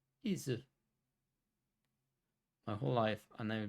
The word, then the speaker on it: Ys: Izu verkar vara det japanska uttalet i alla fall. Om jag uttalar det rätt. Izu.